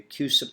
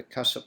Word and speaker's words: CUSIP: So when we're referring to a place for payment, we should be addressing the QSIP number or the CUSIP number, depending on how you like to pronounce that word.